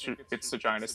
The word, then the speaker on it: Seginus: No, I think it's Seginus. The actual word that Seginus is a type of a star, and in that context, that is the pronunciation Seginus.